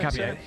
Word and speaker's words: Hincapié: In which minute did Piero, is it Hincapié? Is that how you pronounce it? Yeah, Hincapié.